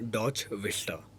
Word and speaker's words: DotchVista: अच्छा वसीम भाई इसको हम प्रोनाउंस करेंगे डॉच vistा।